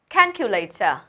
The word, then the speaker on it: calculator: Đó là calculator. Calculator. Trọng âm đầu tiên, đây là một từ có 4 âm tiết. There are 4 syllables and the first one is stressed.